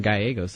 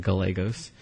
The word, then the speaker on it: Gallegos: moment in my life I realized I'm guy a goes I'm not Gallegos and it's okay to